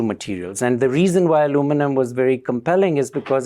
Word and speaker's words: aluminum: I have used aluminum, and I'm going to use the American pronunciation. I will talk about why there are two pronunciations and spellings in a moment, too.